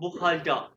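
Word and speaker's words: Buchhalter: जो जर्मनी में रहने वाले लोग हैं ना, जर्मन है, वो लेगा, मुटर, बुखाल्टा, यानी कि वो प्रोनाउंस, जर्मन प्रोनाउंस ऐसे करते हैं, लेगा, बुखाल्टा, ऐसे प्रोनाउंस करते हैं, ठीक है।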